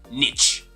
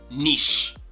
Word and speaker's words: niche: give it a try it's actually tempting to say niche but it's definitely not the case so this is going to be niche now people say niche